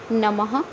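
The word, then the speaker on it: नमः: इसे विसव कहते हैं इसका उच्चारण वर्ण के बाद है कि धोनी के समान होता है जैसे यहां पर लिखा है नम और विसर्ग के दो बिंदु लगी हुई है तो हम इसे पढेंगे नम्ह इसी प्रकार नेक्स्ट टू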